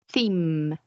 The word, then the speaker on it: theme: So if you pay attention, if you pronounce these words, your tongue goes up in your mouth. So you say like theme. You're rolling your tongue against your upper teeth.